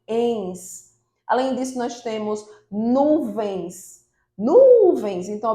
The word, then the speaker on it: nuvens: Além disso, nós temos nuvens. Nuvens. Então, observe que o nu é a sílaba mais forte, então ela é uma paroxítona, mas é terminada em ens.